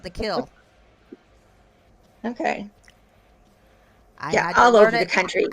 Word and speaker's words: Kiln: well that's like The Kill down here what is a cat the kill down here is spelled k-i-l-n like a kiln but it's black without the lamb but they called The Kill okay all over the